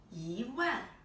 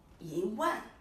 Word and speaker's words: 一万: I pronounce this 一百, this 一千, and this 一万. So here, actually, the pronunciation has changed, right? The tone has changed. This I pronounce 一百. This I pronounce 一千, but this I pronounce 一万.